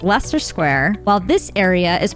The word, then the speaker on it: Leicester Square: This is pronounced Leicester Square, while this area is pronounced Greenwich, not Greenwich.